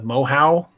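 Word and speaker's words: Moehau: is tough to pronounce it's m-o-e-h-a-u the mohow i believe sure sure and apparently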